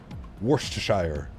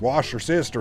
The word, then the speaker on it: Worcestershire: Worcestershire. Is that the proper way of saying it? Worcestershire. That's the proper way, isn't it? But then you have us. Wash your sister sauce.